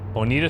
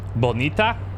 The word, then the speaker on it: Bonita: Bonita Street. Or more correctly pronounced, Bonita.